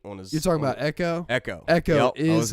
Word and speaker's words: Ekko: Oh, yo, Nick said, "I love Echo, dude." Dude, yeah. He looked Echo. fucking Nick's, badass. not to be bro. not to be an elitist here, but you spelled Echo's name wrong. It's EKKO.